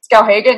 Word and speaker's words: Skowhegan: from the University of Michigan, he attended the Skowhegan, did I pronounce that correctly? Skowhegan, yes, excellent.